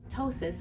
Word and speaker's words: ptosis: tosis or PT sis is how we spell it the p is silent is a a droopiness of